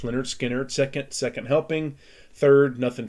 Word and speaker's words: Lynyrd Skynyrd: is their fourth album their first self title pronounced leonard skinner second second helping third